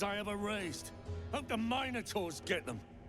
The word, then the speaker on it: Minotaur: Hope the minotaurs get them. Minotaurs. I am not pronouncing it that way. It's Minotaur.